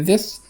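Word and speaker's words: this: اكدلك لايك اني ستوري خد بالك من ذس هي بتتنطق زي حرف الذال مش حرف ازاي تمام ذس طلع لسانك وانت بتقول ذس مش ذم لايك انور يعني زي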